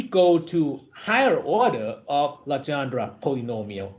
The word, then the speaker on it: Legendre: One of the other kinds of basis is called Legendre polynomial, or in Thai they would pronounce it เลอจองอนุกรมเลอจองครับลักษณะแบบนี้ so what is it?